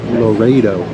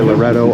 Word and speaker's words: Loreto: Now, I know some people pronounce it Loreto, but I'm going to say Loreto all day long.